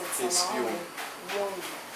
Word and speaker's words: Jung: Eu estou aqui com o Jung, seria assim a pronúncia do seu nome? Jung.